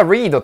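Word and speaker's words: read: ます What The Maze これがリードというかレッドと読むかはこの入るものによって違いますね原型の場合や現在形の場合はリードと読むし過去分詞だっ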